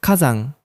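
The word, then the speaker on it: 火山: native reading, but in kazan, meaning volcano, the kanji uses the on'yomi reading zan. Because of a sound change called rendaku, the s becomes z. So, san becomes zan.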